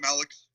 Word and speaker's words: Malix: Hey, what's up, Malix? Hello, Malix. Hey, Alexander. I'll just say that since your last name is more easier to pronounce. It's just Alex with an M in the front of it.